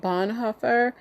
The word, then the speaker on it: Bonhoeffer: His name is, I think you pronounce it Bonhoeffer.